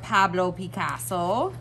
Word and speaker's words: Pablo Picasso: famous artist Pablo Picasso I think it helps if you say it like that honestly you want to say it together Pablo Picasso and you gotta hold out the o so today we are